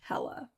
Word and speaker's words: Helle: entire time okay um i believe it's pronounced hella it's h-e-l-l-e i need i mean